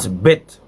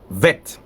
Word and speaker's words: Bet: Even in the Hebrew, this bet, sometimes it sounds as vet. Vet, yeah. When we have a nukud within it, it becomes bet. But without a nukud, it becomes vet.